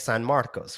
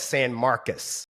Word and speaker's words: San Marcos: Because I'm pronouncing it the way that you would say it in Spanish. San Marcos, right? And they were like, "No, it's San Marcus." Like Marcus, not Marcos.